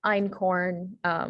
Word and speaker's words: einkorn: um so the e-i-t um there's also like einkorn which is e-i-n-k-o-r-n which is pretty much the